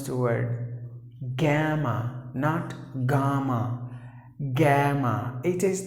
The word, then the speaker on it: gamma: like Alpha Beta Gamma not odds add a gamma that's the way you have to pronounce the word gamma naught gamma gamma it is the third alphabet